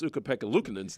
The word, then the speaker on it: Ukko-Pekka Luukkonen: But what's magnified that fail, well, the Buffalo Sabres kind of recruited a couple of fans to correctly pronounce UPL's name. And this is how it sounded. Okay. Ukko-Pekka Luukkonen.